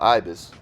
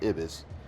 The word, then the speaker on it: Ibis: My home when I'm in town is usually the Hotel Ibis or Ibis as I'm told the pronunciation depends on what country you're in, which is conveniently located right across the street from the Hop Vanhoff.